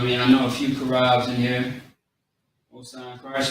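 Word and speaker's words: חרב: So we got the C-H-A-A-R-A-B. Okay? Karab. Is how you say it quickly.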